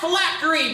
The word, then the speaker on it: phylactery: Miss Park, the word is phylactery. Phylactery. Am I pronouncing that correctly?